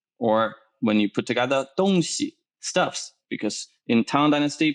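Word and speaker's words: 东西: afterwards east west or when you put together don xi stuffs because in town dynasty people go to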